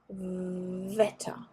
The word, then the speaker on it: Wetter: Now on to W. W, German W, is pronounced like in English V. So you put your teeth on your lip, as in Wasser, Wetter.